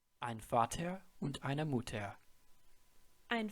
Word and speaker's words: Vater: The letter V, or V as they call it, is pronounced as the English F.